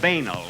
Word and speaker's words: banal: I guess we were bordering on the puerile and banal. It's a very good line, Dick. Do you mind if I use it on my program last week? And we pronounce it banal, if you don't mind.